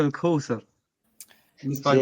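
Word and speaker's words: الكوثر: Inna ardayna kal Kevser. Fasalli li rabbika wanhar. Ah, tu prononces Inna mal. shaniaka Ok. huwal abtar. Ouais, tu prononces mal. Inna a'taynaka al-Kawthar.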